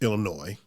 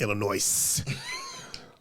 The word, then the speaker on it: Illinois: going to do is mispronounce our state it's illinois it's not illinois now come on here